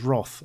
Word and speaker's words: wrath: That's an interesting thing, because somebody said to me they've never heard the word wrath pronounced as Roth, and I would pronounce it like that as well. Maybe it's just an occasional British thing.